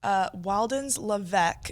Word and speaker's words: Wildens Levesque: Moving on to the other side of things, we got some men's basketball news as they added transfer Wildens Levesque is how you pronounce his name, He is a graduate